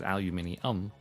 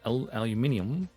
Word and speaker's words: aluminium: Of course, it's aluminium.